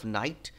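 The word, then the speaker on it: knight: ইজ the meaning of নাইট কে এটা silent নাইট মানে হচ্ছে ওল্ড টাইমে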